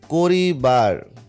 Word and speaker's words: করবার: আচ্ছা, সেটা কীরকম, আমরা যদি খেয়াল করে দেখি যে করিবার, তাহলে এখানে করিবার, তাহলে করিবার থেকে করবার, কো করিবার থেকে করবার, এখানে কোর, এই যে কোর।